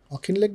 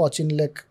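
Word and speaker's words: Auchinleck: সেটা হচ্ছে সে সময় আর্মির হেড ছিলেন অখিনলেক বলে একজন, অখিনলেক বা অচিনলেক বা অকিনলেক, প্রোনাউন্সিয়েশন ভুল হতে পারে, আমার মনে হচ্ছে ওনার স্পেলিং থেকে অখিনলেক হবে।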